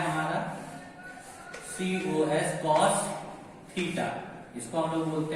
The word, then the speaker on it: cos: दूसरा होता है हमारा COS कॉस थीटा, इसको हम लोग बोलते हैं कॉस थीटा। तीसरा होता है हमारा टेन थीटा, इसको हम लोग बोलते हैं टेन थीटा। चौथा होता है हमारा कॉसेक थीटा, इसको हम लोग बोलते हैं कॉसेक थीटा।